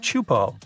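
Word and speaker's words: Teahupoʻo: It's pronounced chupo, and it means broken skulls in Tahitian.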